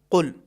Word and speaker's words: قل: قل هو اللہ احد۔ بسا اوقات کچھ افراد اس کو کاف یا گاف جیسا پڑھتے ہیں، کل یا گل، یہ دونوں تلفظ صحیح نہیں ہیں، بلکہ ہمیں اس سورہ کو جب شروع کرنا ہے تو ہمیں قاف عربی اعتبار سے پڑھنا ہے۔ حرف قاف میں آواز بھاری ہوگی، قل، اور حرف قاف میں